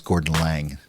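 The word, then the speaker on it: Gordon Laing: learn how to pronounce that how do you pronounce Gordon Lang do I am I close enough you pronoun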